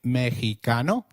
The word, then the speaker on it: Mexicano: While X is usually pronounced as X inflexible, it is pronounced as a throaty H in the words Mexico, Mexicano, and Oaxaca, which is a state in Mexico. So, can you try saying Mexicano?